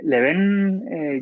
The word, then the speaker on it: Lebén: Pues, a ver, Leven ya viene Anda, que lo he dicho mal. desde... Sí, no, en general todo el mundo le pone el acento en la primera E, lo tiene en la segunda.